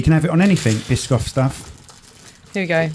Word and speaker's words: Biscoff: Biscoff I I'm older enough to remember when Biscoff am I saying it right you aren it yeah what was I saying before bishof bishof I'm old enough to remember when Biscoff